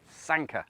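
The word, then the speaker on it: Sanquhar: And I think it's pronounced Sanka because I spoke to a lovely Scottish lady from ScotRail who told me exactly which train I wanted to be on and how to pronounce Sanka as well, which is Sanka.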